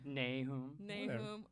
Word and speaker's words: Nahoum: Yeah, Nahoum.